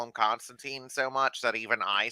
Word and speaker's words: Constantine: cartoons they call them constantine so much that even i switch between the two um but yeah no technically it is constantine um but that's how alan moore pronounces it and [ __